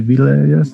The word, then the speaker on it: villagers: Porque eso, ¿cómo le pondríamos en español? Como si estuviera escrito así, villagers. Y no. Villagers. No. Es como, ¿cómo pronuncias esto? John. John. Bueno, con esa misma vas a leer villagers.